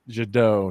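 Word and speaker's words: Jet d'Eau: God, I can't pronounce my my my French accent. Jado.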